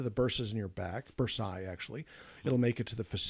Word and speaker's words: bursae: And it'll make it into the bursas in your back, bursae, actually. It'll make it to the facet joints. I was wondering what the plural was of bursa. B-U-R-S-A-E-S-A-E. Yeah. Bursae.